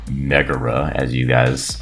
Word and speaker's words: Megara: have Shego paired with Megara, or Megara, as I found out is the actual pronunciation.